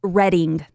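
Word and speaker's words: Reading: My Pennsylvania fact, by the way, is that Danny lives there and it's pronounced Redding.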